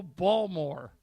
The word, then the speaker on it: Baltimore: from the Urban Dictionary how the real balt morans pronounce Baltimore let's go balmore I bet if you